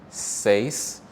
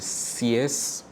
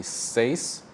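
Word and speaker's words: seis: you might have really CS but really the pronunciation is safe right so remember in Spanish the vowels don't change and the order is important so we have s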